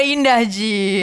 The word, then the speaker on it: Indah G: Oh itu bacanya Indah Ji. Indah J. Aku Indah nggak J. aku nggak pikir awalnya karena aku bahasa pengantarnya Inggris ya. Iya. Jadi aku sebut nama aku Indah J.